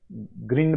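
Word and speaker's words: grind: है ठीक है ना इसको ग्रंड भी बोलते हैं ग्राइंड भी बोलते हैं ठीक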